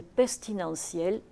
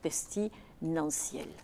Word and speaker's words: pestilentiel: vert, le monstre est pestilentiel et nauséabond. Et vous voyez l'erreur de prononciation ici avec pestilentiel. Alors que c'est pestilentiel.